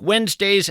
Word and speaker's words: Wednesday: If you're in fact scribbling this down, Wednesday is kind of tough to spell. It's not like it sounds. You want to spell it we enz, but that of course would be a mistake.